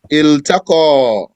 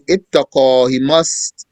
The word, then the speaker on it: التقى: Iltaqa. One does not say ittaqa. Instead he must pronounce the lam from for the verb.